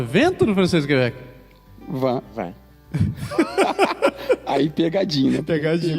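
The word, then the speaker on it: vingt: Vin.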